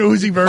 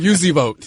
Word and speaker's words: Uzi Vert: He called him Ed Sheeran, and I don't remember what he called Uzi Vert, but it wasn't Uzi Vert. Called him Uzi Vote.